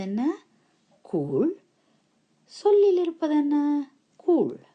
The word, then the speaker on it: கூழ்: கூழ் சொல்லில் இருப்பது என்ன கூழ் இந்த கூழ் ள் தான் நீங்க வடிவா உச்சரிக்க பழக வேண்டும் சரியோ இப்ப இன்னொரு சொல்லு